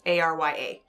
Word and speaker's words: Arya: Right, but they spell it like the character on Game of Thrones. Arya. Not Arya like a song.